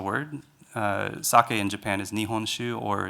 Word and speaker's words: nihonshu: So sake was a way of making it easier for foreign people to pronounce the word. Sake in Japan is nihonshu or seishu, which is more difficult, obviously, for us to pronounce.